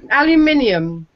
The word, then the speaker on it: aluminium: what we're on about pronounce it again AL aluminium it's no you're adding an extra ey in there it's that's the